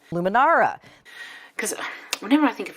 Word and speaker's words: Luminara: I invested in, now I hope I pronounce it right, is it a Lumiere? Luminara.